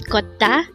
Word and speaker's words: 걷다: again our work today is Kota this is a verb which means to walk